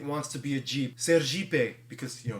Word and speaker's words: Sergipe: Sergipe, because, you know, in Portuguese, ser means be, and Jeep is how you pronounce Jeep.